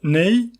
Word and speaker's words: neigh: But now you can use IP with key nay. So it is spelled N E I G H.